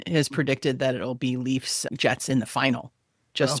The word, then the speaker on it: Leafs: Why is it the Maple Leafs versus leaves? Because normally plural of a leaf would be leaves. Yeah. Because the Maple Leafs as a team is a proper noun capitalized, the proper way to say it in the plural is leafs.